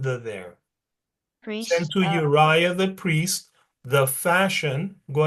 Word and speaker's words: Uriah: And King of Ahaz sent unto Ur, Three Uriah, syllables.